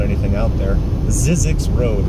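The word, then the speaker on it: Zzyzx: Zizix Road. It's spelled, I believe, Z-Z, as in zebra, zebra, Y, as in Yankee. Z as in zebra again. X as in X-ray. Zizix Road.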